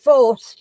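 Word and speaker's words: Faust: be, when you're doing foreign things, you've got forced as it's pronounced on that, and it's forced, and it's F-A-U-S-T.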